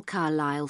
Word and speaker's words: Carlisle: Could you spell Carlisle for me? Sorry. It's C-A-R-L-I-S-L-E. You don't pronounce the S. Carlisle Way.